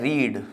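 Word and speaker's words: read: क्या कर लिया बी रेड कर लिया ठीक है यहां पर ये लिखा हुआ है रीड और यहां हम इसे पढ़ेंगे रेड ठीक है रीड रेड रेड बनता है स्पेलिंग से रहती है लेकिन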